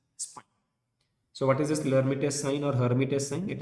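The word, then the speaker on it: Lhermitte: I'm writing L here, but please remember L is silent, so we will call it as Hermitage sign.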